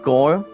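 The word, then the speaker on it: Gungrave G.O.R.E: You guys can also check out an extended cinematic trailer of a gameplay reveal of Gungrave Gore. And there's only 3 dots with the points. It's pronounced as G-O-R-E.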